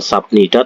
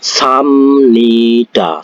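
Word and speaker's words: 삽니다: sap ya sanida mesk tulisannya itu sabnida Tapi bacanya bukan sabnida tapi samnida seperti itu dari sini paham ya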